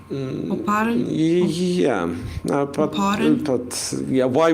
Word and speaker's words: Oparin: Okay, apparently my pronunciation of Operin is incorrect. It's Oparin. Oparin.